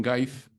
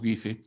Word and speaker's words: Guise: Efectivamente, algunos lo dicen Gais. La pronunciación, ¿no? Sí. Nosotros en el Perú ya lo hemos castellanizado y lo llamamos Guise.